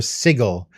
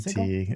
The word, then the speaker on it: sigil: That 30 seconds that kind of didn't happen was our moment of silence for Sigil, the VTT. Sigil? That's the American pronunciation of that word.